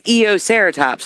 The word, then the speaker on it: Eoceratops: I can't even pronounce that. It's Eoceratops.